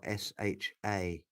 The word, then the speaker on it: SHA: Indeed, it's a SHA, S-H-A, right? But it's pronounced SHA.